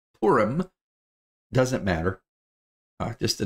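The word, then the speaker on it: Purim: the way that's how that is how it's pronounced I know it's hard to not say purum but it's porum doesn't matter uh just a note um porum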